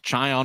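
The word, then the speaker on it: Čajan: Pavel Chayon, whose last name is spelled Cajan.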